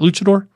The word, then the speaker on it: luchador: Luchador?